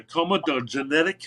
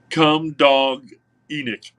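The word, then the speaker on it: comedogenic: But anyway, hemp is zero on the comedogenetic scale. And I know I'm not pronouncing that correctly. Um, it's basically come dog enic. That's how it's spelled.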